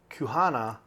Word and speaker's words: Kuhana: Kuhana. Did I say that close? Quahana. Kuhana. It is a Q. You can say it like Queen Kuhana.